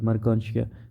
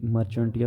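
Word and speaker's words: Marchantia: जैसे एग्जांपल में उसने मर्कांशिया का एग्जांपल दिया है, ठीक है, ये प्रोनाउंसिएशन है कि मर्कांशिया, वैसे जो है ना ये मर्चेंटिया भी पढ़ते हैं लेकिन ये मर्कांशिया है इसलिए जहाँ पे प्रोनाउंसिएशन दी गई है।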